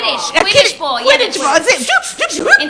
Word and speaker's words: Quidditch: But the point is that recognizing when there's that distance is the first step to making, catching the Quidditch ball.